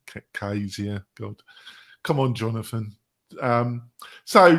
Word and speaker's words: Camtasia: we paid for Camtasia for our screen captures was because Camtasia grabs